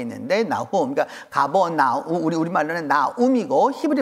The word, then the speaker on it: 나훔: 나훔이라는 사람 있죠. 그 나훔이 저 말하고 똑같은 말이에요. 근데 우리가 그냥 읽을 때 나움이라고 읽어서 그런 거지.